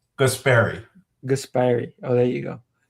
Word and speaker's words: Guaspari: It's Guaspari.